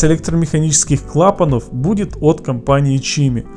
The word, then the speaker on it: CME: Помпа тут стоит не китайская и при этом не типичная бюджетная улька, а от самой компании CME, что на итальянском будет произноситься как Чими.